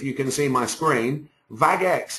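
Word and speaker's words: Bagex: can see my screen vagex is spelled b a g e x now if you're going to use a something like bag X um make sure when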